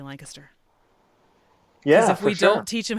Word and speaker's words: Lancaster: from central Pennsylvania because they would say oh yeah I'm coming down to Lancaster and like no no you know you're not right no you're a foreigner you're coming to Lancaster in fact a couple